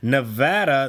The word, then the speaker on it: Nevada: people of Nevada that the pronunciation of their state is in fact Nevada, not Nevada. Nevada is Spanish for snowy or snowfall, depending on if you're using it as a noun or an adjective. That is where the state's name derives from, so I don't understand why it isn't pronounced that way.